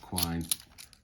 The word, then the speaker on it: Quine: Sorry, mine just flipped back to Quine, rhymes with swine.